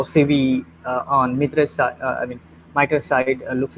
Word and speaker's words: MITRE: It is a complete word, and many Hindi speakers call it Mitre. Even I call it Mitre, but Mitre is not a correct pronunciation.